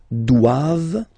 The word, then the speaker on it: doivent: And then the last one, ils doivent. So same thing, classic ending for the plural form, ent here. Okay, but then you don't pronounce it.